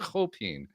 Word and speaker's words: Chopin: So apparently that's the correct pronunciation of his name, Chopin.